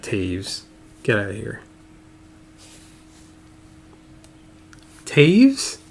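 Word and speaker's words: Toews: jonathan quick for the kings i did not pronounce it right hayes you're kidding it's not taves get out of here taves there's no a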